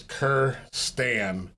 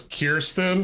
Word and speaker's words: Kirstan: My name is Kierstan. Everybody mispronounces it and says Kirsten or Kristen.